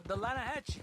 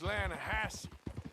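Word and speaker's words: Lannahechee: You mean the Lanahassee River? No. The Lanahatchee. It runs right near here. Yeah, but it's pronounced Lanahassee.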